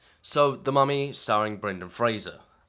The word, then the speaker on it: Fraser: So, The Mummy, starring Brendan Fraser. It's Fraser, not Fraser. I found that out recently, actually. I always pronounced it Fraser, but you know.